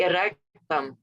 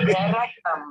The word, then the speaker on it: erectum: I just say erectum. It's like, it's spelled like rectum almost, but with like a E at the front. So I'm like, erectum.